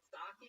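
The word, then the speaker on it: Psaki: The Jen Stocky? Is that how you say it? You don't say the P at all?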